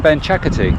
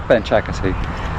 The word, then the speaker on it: Benchakitti: I don't know if that's the right pronunciation. I always pronounce things wrong and people go, oh, you mean Benchakitti? And I just said Benchakitti. So it's a little distinct tone that you have to get right.